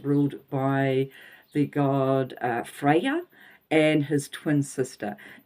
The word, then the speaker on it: Freya: by the god uh Freya and his twin sister now her name sounds the same Freya but it's spelled differently so you have Frey